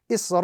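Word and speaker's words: إِسْرَائِيلَ: So the correct pronunciation of this particular word in the Arabic text is Isra'ila, with a prolonged stretch on top of the letter Ra gives us the proper pronunciation of this particular example. Again, Isra'ila. The prolongation must be between 3 to 5 seconds.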